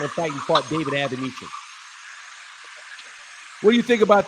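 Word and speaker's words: Avanesyan: How do you pronounce his name again? Avenesian.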